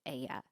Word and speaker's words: Aija: Aya maybe helps the pronunciation. It's Aija, but I believe Aya is how you would say it.